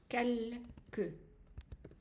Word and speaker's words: quelque: And the exception is quelque. So here, we pronounce the E.